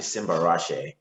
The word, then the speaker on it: Simbarashe: is simba so my full name is actually simba rashe and um yeah and simba rashid actually means